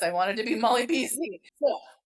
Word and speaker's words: Molly B's: So, it's it's pronounced Molly bees just like it'd be apostrophe s, but I didn't want to be Molly Bs. I wanted to be Molly Bez.